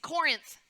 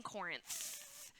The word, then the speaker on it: Corinth: called Corinth everybody say Corinth did you make sure you got the th on the end the th yeah good good okay just making sure you're saying it right Corinth like a t so Paul's life had